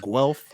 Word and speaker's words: Guelph: So they have Guelph is Guelph. Well, Yeah, except if I spelt it for you, you'd be like, that's not how you say it.